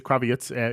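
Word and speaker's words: Krawietz: Sorry, I always want to pronounce it like Lenny, but it's not. Peter Kravitz is taking the press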